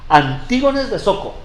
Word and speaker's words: Antígonos de Soko: Antígonos de Soko.